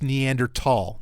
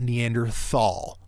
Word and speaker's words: Neanderthal: __ ] a neandertal now it's pronounced neander tall not Neanderthal okay if you say neanderthal you're probably a neander tall well okay so I'm